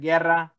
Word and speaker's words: Guerra: And I always say, if you can't pronounce the R's, can't roll the R's, Eric Guerra, then Yogi, if you think Yogi Berra, Eric Guerra, you know, that's the best way to do it.